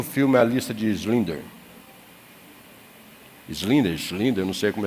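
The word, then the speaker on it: Schindler: Quem aqui assistiu o filme A lista de Slinder. Slinder. Slinder. Não sei como é se pronuncia. É Shi. Schlinder, Schlinder, obrigado aí.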